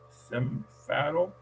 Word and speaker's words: semáforo: Marshall, this word, semáforo, is 4 syllables. Semáforo. Semáforo. Sí. Gracias. Y el acento está en la segunda sílaba. The accent is on the second syllable, MA.